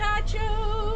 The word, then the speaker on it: Picacho: I wanted to ask you, how do you pronounce this state park? Picacho.